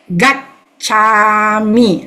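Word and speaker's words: gacchāmi: Buddhang Saranang Gacchami. Remember the GAC, double syllable, we pause. Gacchami. So, Buddhang Saranang Gacchami.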